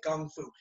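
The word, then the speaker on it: kung fu: my curricula so if you say John Fong gung foo or John Fong kung-fu usually we say kung foo because you're anglicized an Asian were not anglicized it really badly as I try to say it right but our John fond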